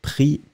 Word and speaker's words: pris: Remember, final S not pronounced, so pris, P-R-I-S, but you don't pronounce the S.